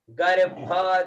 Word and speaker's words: गर्भ: हुई है, तो नी गर्भ है ना, नी गर्भ। ब और भ साथ में निकलना चाहिए, देखिए उच्चारण में, नी गर्भ, नी गर्भ, गर्भ, गर्भ है ना, ब भी और भ भी निकल रहा है, नी गर्भ, नी गर्भ।